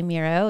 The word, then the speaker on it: Miro: CMO of Miro and the way I remember how to say Miro is he told me when he first joined it rhymes with hero because you pronounced it